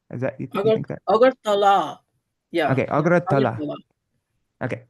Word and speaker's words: Agartala: But then sometimes because sometimes they write the place name so strangely, I get confused how to pronounce it. Okay, so Yeah, Agratala, is that you think that? Agartala.